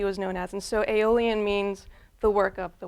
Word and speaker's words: aeolian: I'm not using the word alien. Aeolian has a separate little syllable in it. It's got an extra letter in it or 2, and what it means